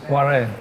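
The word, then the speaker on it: Oarren: like that, O-A-R-R-E-n, It's Warren. that's Warren, eh? Yes, Okay, yes. so it's still pronounced Warren, but it's written O-A-R-R-E.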